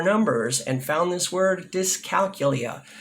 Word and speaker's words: dyscalculia: and found this word dyscalculia or if you're in Europe does calculia I'm in America so please forgive my American pronunciation all right people often ask